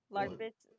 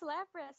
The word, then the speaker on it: Lapras: Larpus. Lapras. I say Larpus, and then she's like, no, it's Lapras. I'm like, that's weird.